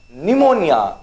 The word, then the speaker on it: pneumonia: it's island okay island pneumonia cp silent there be careful okay pneumonia knowledge okay